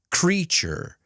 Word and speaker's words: creature: Remember, the T plus the U is ch. Nature. Future. Creature. Statue, situation.